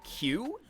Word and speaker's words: queue: that I see is the word q where you know you line up you get in a line you get in a queue which is spelled q-u-e-u-e so there's like q-u-e-u-e very confusing looking word the reason